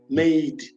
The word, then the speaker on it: MADET: every Thursday is called MADE, but this is how you spell it. It's MADET. It stands for Making a Difference in Education and Training. Now, why we don't say the T is so that we